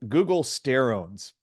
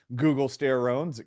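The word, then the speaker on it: guggulsterone: many different names but it rhymes with the same internet search engine Google so you'll often see it pronounced Google Googoo Google steron Google resin extract it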